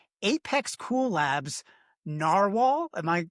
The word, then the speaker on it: Narwhal: Apex Cool Labs Narwhal. Am I pronouncing that right?